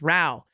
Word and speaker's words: Rao: uplifting and great and I learned how to pronounce Rao instead of row so that's right aluminum